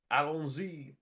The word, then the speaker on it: Allons-y: that is the actual way that you're supposed to pronounce it. Oh yeah. Yeah, it's Allons-y. That's the way the 10th Doctor says it.